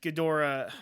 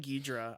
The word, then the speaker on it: Ghidorah: This one uh Ghidorah I kept saying Ghidra. I know that was the original name. either or it's either or. I've heard it pronounced both ways.